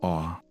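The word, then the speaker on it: Orre: Although some fans pronounce it differently, the only official pronunciation of the region comes from a television commercial where it's said as "Or," so that's the one used.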